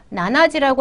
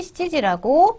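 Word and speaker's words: 七時: 일곱 안 된다? 나나지라고 하면 안 됩니다. 여기에 시라고 나와 있죠? 7시는 반드시 시지라고 표현하셔야 됩니다.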